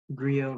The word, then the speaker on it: griot: Griot, may I have all the information, please? Yeah, so the only pronunciation is griot.